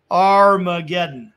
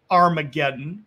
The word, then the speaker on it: Armageddon: And Mount Megiddo in Hebrew would be pronounced Har Megiddo. So Har Megiddo is where we get the word Armageddon.